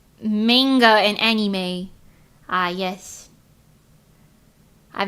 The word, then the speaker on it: manga: hi bu F yes I think it's weird if I say Monga my mom will be like do you mean manga no I don't mean that mother the correct pronunciation in Japan is manga manga no mother I